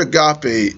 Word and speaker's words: agape: God's kingdom and nature is pure, unadulterated, agape love. That word agape is a Greek word that means unconditional. Or some people pronounce it agape.